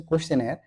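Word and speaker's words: questionnaire: আছে এই ওয়ার্ডটা কোশ্চেন নাইরে কোশ্চেনার এটার সঠিক উচ্চারণ হচ্ছে কোশ্চেনার কিন্তু আপনি মনে রাখবেন কোশ্চেন নাইরে এই কথাটা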